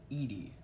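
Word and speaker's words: Yde: next on the list second to last is um ammo Edie yes that is how you pronounce his last name it's very strange he was born in 1900 debuted in 1924.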